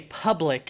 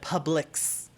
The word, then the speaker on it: Publix: in florida and you say public instead of publix you know it's it's